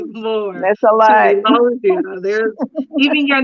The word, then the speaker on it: Elogeia: Um, Elogia is how you pronounce it.